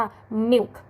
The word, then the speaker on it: milk: นั่น เอง นะ คะ ไม่ อ่าน ว่า มิล นะ คะ แต่ อ่าน ว่า หมิว หมิว m i l K